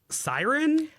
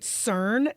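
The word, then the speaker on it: Syrn: Siren.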